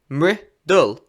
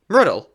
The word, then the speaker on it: Mridul: I always tell people an easy way to say my name, the word riddle with an M in front of it.